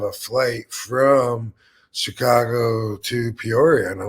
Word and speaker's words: Peoria: that I think you you seem to take a syllable out of it when you say it yeah I think I do I got Mushmouth with it I think it's Peoria Peoria there we go Peoria I think you're